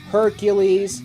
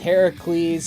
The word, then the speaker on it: Heracles: such as poseidon hades hercules actually pronounced heracles and greek mythology but whatever perseus helios